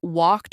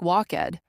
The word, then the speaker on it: walked: Let's start with pronunciation of regular verbs in the past tense, like walked or played. A lot of learners say the ed too clearly, like walk-ed, but it's actually just walked.